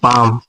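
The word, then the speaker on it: palm: अगला है पाम यानी कि एम के पहले एल आ गया तो इसीलिए एल साइलेंट हो जाएगा। तो इसको पढ़ेंगे पाम।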